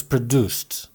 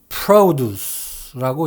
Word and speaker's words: produce: A farm is a place where produce is produced. 앞에 있는 produce는 명사입니다. 뭔가를 생산해서 나온 결과물을 말하죠. 이 문장에서는 작물을 뜻합니다. produce 또는 produce라고 읽습니다.